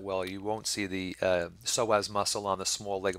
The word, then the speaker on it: psoas: is spelled with AP we don't pronounce it but you do spell it with a P so both of these